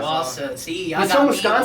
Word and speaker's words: Wausau: Wausau, that's how you say it? Wausau, yep. Wausau.